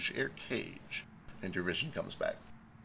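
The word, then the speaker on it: Eirkage: looks pretty spooky spooky how is it literally air cage like a-a-a-i-r-c-a-g-e it's e-i-r-k-a-g-e but it is pronounced air cage it's okay it's it's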